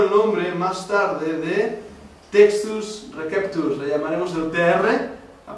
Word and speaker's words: textus receptus: estudiaste latín recordaréis que la c en latín suena K Así que no decimos César decimos caesari y decimos textus Reus por esto Ese es